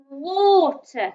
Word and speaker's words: water: water that one so letter a making the o sound water so it's the a that's the tricky part i bet we know